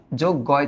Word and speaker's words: যজ্ঞ: এইটা ভাঙে এইভাবে, গ যোগ গয় চন্দ্রবিন্দু, তাই না? তাহলে এটার উচ্চারিত রূপ যখন তুমি লিখবা, তোমরা লিখবা হচ্ছে যোগ গো, নাকে হবে উচ্চারণটা, এবং আমরা দক্ষ যজ্ঞের কথা পড়ছি অপরিচিতাতে।